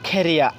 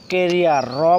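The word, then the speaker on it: career: আমরা আগে পড়তাম কেরিয়া, কেরিয়া, র পড়তাম, এখানে ক বলতাম, শেষে র বলতাম, কেরিয়ার। এখন বলবো আমরা খেরিয়া। এখানে ক উচ্চারণ করব না, এখানে খ উচ্চারণ করবো, দেন শব্দের শেষে যে আর আছে আরটা সাইলেন্ট থাকবে, এ কারণে বলবো আমরা খেরিয়া, খেরিয়া।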